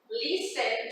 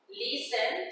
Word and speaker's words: listen: We have watch TV, play board games, cook, listen to music, okay? Remember, we don't pronounce the T. Listen to music, practice sports.